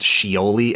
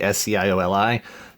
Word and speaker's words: Scioli: These are the Tom, I think it's pronounced Scioli, S-C-I-O-L-I, the Tom Scioli Transformers.